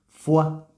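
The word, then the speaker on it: foie: fua eh Por cierto fua es una palabra chocante porque es una palabra francesa que se escribe o y e f o y e pero ninguna de esas vocales se pronuncia se pronuncian las otras dos vocales que no se escriben ua fua en fin una palabra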